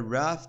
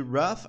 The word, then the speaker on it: rough: Pay attention aqui para a pronúncia de rough. A gente vai pronunciar assim, ó. Rough. A gente não vai pronunciar rough, rogue, alguma coisa assim, né? Embora seja esse GH aqui. GH no final, ele vai ter um som de F, ok?